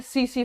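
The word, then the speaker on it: tsetse: और यह होती है सीसी फ्लाई से सी सी फ्लाई ठीक है इसको बोलेंगे हम लोग सी टी साइलेंट रहता है सी सी मक्खी अच्छा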